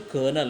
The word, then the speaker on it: colonel: It is pronounced colonel, not a colonel. It is not a colonel. It is a colonel. That first L is silent, right?